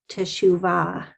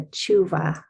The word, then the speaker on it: teshuvah: It's really just about pronunciation, because I thought I heard it said, slower, like teshuvah. Yeah. Teshuvah, but yours is more of like a Germanic, like a tshuva. Yeah. So, together. Are they all just different pronunciations? Yeah. So, oh God, that's such a cool question. Yeah, tshuva is the kind of slowed down version. Tshuva is like you're saying, it's more the Ashkenaz.